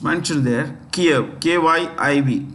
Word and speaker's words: Kyiv: Kiev. KYIV. Kiev.